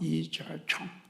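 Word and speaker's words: 李嘉誠: 저는 홍콩의 부호인 이가성 우리 식으로 발음하면 이가성 중국식으로 발음하면 이총 또 광동호식으로 하는이 카생는 이분을 여러분 앞에 한번 소개해 보려고 합니다.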